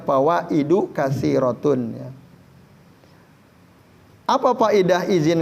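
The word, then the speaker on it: فوائد: wafil istizani fawaidu katsiratun Kenapa dibaca fawaidu kasiratun kok dalnya enggak tanwin karena itu jamak muntahal jumu sigohnya ya bentuknya dan dia adalah Isim ghairu munsorif tidak bisa tanwin Jadi dibacanya fawaidu katsiratun ya apa faedah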